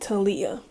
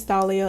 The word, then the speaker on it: Thalia: to make sure, but the translate is pronouncing it Talia. But I don't think that's her name. That cannot be her name. I think it's Thalia, and that's what we're going with.